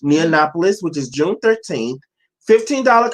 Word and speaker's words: Neonopolis: Is it pronounced Neonopolis? Yeah, it's Neonopolis. Neonopolis, which is June 13th.